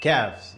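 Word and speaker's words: كاف: Kaf, you see? I showed you a little smile. This is how I pronounce it.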